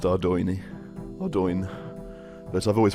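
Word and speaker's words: Ardougne: And yes, I do know it's pronounced Ardoini. Ardoin, but I've always pronounced it Adun, so I don't think I'm going to change anytime soon.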